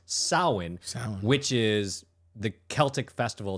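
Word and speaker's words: Samhain: pronounced well it's spelled Sam Hayne but it's pronounced sin which is the Celtic festival that's basically the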